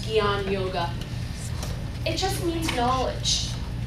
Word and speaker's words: Jnana: yoga means knowledge and I know it's spelled funny and it's not spelled the way it sounds sounds Gan yoga it just means